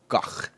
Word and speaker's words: Van Gogh: And, of course, Starry Night by Van Gogh. It's Not Van Gogh. Gogh. No. Dutch. Proper pronunciation. I researched it 1,000 times because I argued with my ex about this. Gogh.